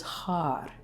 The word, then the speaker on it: har: And right as you pronounce the sound r, it's a little bit of a roll of the tongue. Har. So your tongue is touching the roof of the mouth.